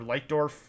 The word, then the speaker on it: Leitdorf: Or Leitdorf, I think is how the Germans insist he be pronounced.